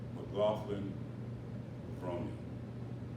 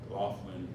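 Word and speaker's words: McLaughlin-Levrone: I kept thinking they were mispronouncing her last name, but they said it in front of her, and that's how they say it, so that's how I'm going to say it.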